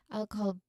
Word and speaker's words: alcohol: When promoting alcohol, the stress is on the first syllable all, which, which of course you be careful not to add any extra vowel sounds between the E and key sound. It should flow relatively smoothly.